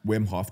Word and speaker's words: Wim Hof: Wim Hof, just you're saying it right, just Wim instead of N.